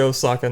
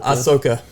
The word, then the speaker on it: Ahsoka: I'm just going to say Osaka now ahoka Ahsoka yeah I've been saying Osaka for so long man so it's just one of those things that I've said it so for wrong long I said it wrong for so long that it's hard for me to stop saying that every once in a